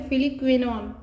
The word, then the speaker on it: फिलिक्विनोन: और उसके बाद ये देखिए विटामिन के फिलिक्विनोन, इसे उच्चारण ऐसे करेंगे फिलिक्विनोन, ठीक।